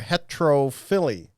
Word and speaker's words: heterophylly: So when you think about a root word that's in the word you just said, like fill, you think chlorophyll. And as long as you are pronouncing that same particle of speech consistently each time it appears, like chlorophyll and heterophyll, then you're saying it right.